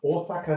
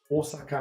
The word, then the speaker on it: Osaka: Mie-san wa Osaka ni ikimasu. It's a long O sound here. Osaka ni ikimasu.